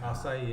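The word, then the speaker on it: açaí: No, we've all said it wrong. Yeah. It's okay. Acai is how you say it.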